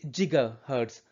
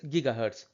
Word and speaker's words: gigahertz: Some people say gigahertz, but I think the pronoun correct pronunciation is gigahertz.